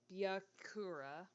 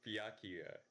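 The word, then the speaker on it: Byakuya: It's Byakua. You put like so much emphasis on the second half.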